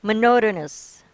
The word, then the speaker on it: monotonous: Monotonous. uh, pardon, Monotonous. Mo- monotonous, Okay. Acceptable because monotonous is American English and monotonous is British English.